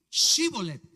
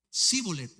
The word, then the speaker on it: shibolet: Entonces le decían, "Ahora pues di shibolet. Y él decía sibolet. Hay una diferencia, se estaban comiendo la H. Dice, "Di chivolet", y él decía sibolet porque no podía pronunciarlo correctamente.